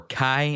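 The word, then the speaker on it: chi: keyblade spelled x-blade X being the Greek letter key or Kai as it is pronounced that is how it is spelled with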